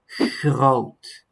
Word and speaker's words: groot: So that would be groot, groot.